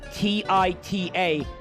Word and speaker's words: Tita: over and over that because titanium is spelled T-I-T-A, that the name Tita would be pronounced the same way when it simply would not be.